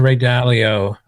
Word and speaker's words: Ray Dalio: just crazy i mean again going back to ray dalio i'm pronouncing that right you are one of the